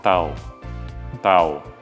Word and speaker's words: tahu: Next number three is next number four is tao to know and there is an h in this word but if you pronounce the h for some reason tahu means tofu in Indonesian.